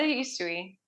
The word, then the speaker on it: Usui: Was it Like, yeah, the Usui. Yep. Okay, Usui.